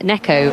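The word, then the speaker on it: ねこ: He said, uh, the Japanese word for cat is neco rhymes with echo.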